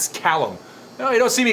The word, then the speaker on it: Callum: It's pronounced Callum. It's Scottish.